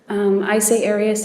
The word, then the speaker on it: Arias: I say Arias, as does the rest of my family.